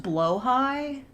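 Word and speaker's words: Blåhaj: Oh, it's pronounced blowhigh?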